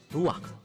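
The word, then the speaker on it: רוח: Kata dalam bahasa Ibrani-nya adalah ruach. Ruach? Ya, benar. Tenggorokan kita harus benar-benar bersih di akhir pengucapan.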